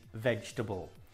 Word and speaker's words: vegetable: the correct pronunciation is vegetable the E in the middle is not pronounced vegetable another word similar